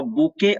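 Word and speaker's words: bouquet: पर हो पूछिए मुझसे उच्चारण देखिए इसका अ बुके फ्लावर्स इसको पढ़ते हैं बुके बुके मतलब फूलों का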